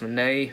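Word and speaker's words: Minié: bullet or mini at I think it's actually pronounced Monet but uh people just call it the mini bowl but moving on we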